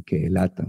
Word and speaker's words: Ceelata: anterior, y acamparon en Kehelata. Recuerden que la C se pronuncia en hebreo como K.